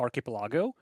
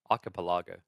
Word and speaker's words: archipelago: Wait, you say it like I used to. Archipelago. It's not just me that I learned a long time ago. It's Archipelago. Chat wouldn't let me get away with that.